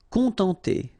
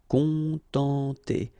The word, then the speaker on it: contenter: Contenter. Okay, nasal, on, and then en. Contenter, contenter. Mériter.